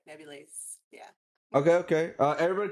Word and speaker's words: nebulaezz: name by the way so it's pronounced like nebulae like neverland is so like nebulae yeah okay okay uh